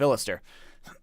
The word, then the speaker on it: Illis: of ill of iller it's my album I should know how to pronounce things they live in the city of illis and uh or used